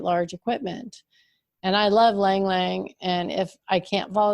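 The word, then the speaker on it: ylang-ylang: is silent okay and langlang and how is that spelled it has a y at the beginning that is silent yeah so it looks like ylang ylang and i think some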